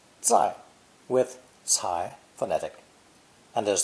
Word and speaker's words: 在: right here and now this character is pronounced fourth tone zai zai with sai phonetic and